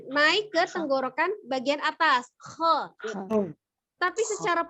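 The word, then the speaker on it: خ: Kho. Tapi secara pengucapan harokat tetap dia fathah. Maka posisi mulut terbukanya sama. Ja, ha, kho. Ja, ha, kho. Ya, tidak ja, ha, ho.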